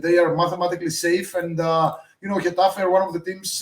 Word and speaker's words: Getafe: And Getafe, am I pronouncing that correctly, Pavlos?